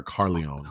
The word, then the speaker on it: Corleone: so there's the Don Corleone. Am I saying it right or Carleone? Well, there some Corleone. Corleone is, Corleone. Okay. well, there people pronounce it differently even within the film, but Corleone's fine.